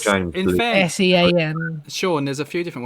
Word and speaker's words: Sean: Sorry, that's Scene. not Sean. Scene, it's not. Scene. It's not Sean.